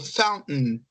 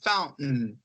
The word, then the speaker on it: fountain: Eu falo fountain, meio que eu engulo esse restinho, ó, fountain, tá?